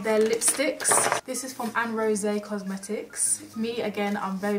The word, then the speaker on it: Aronsè: Me again, I'm very bad at pronouncing names, but it's got that like little E thing that Beyonce has at the end of the name and it says Beyonce.